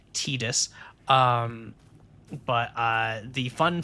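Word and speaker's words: Tidus: You know, it's just it it stars of course uh the main character is Tetus, pronounced Tetus.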